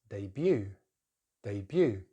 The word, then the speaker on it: debut: So instead of debut, it's debut. But in British English, stress is on the first syllable, debut.